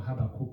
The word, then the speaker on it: Habakkuk: And in the book of, going back to the constitution, in the book of Habakkuk, or Habakkuk as some would want to pronounce, in chapter 2, verse